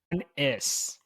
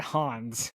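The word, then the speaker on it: Hannes: Okay, I have the pronunciation game. Okay. Hanis. Hanis. Yeah, I said it. That's how I've been saying it. Hanis. So, not Hans.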